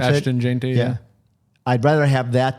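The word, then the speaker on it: Ashton Jeanty: I mean, to me, my way of thinking is I'd rather have a Justin Jefferson and an Austin Genty. Is that how you pronounce it? Ashton Genty, yeah.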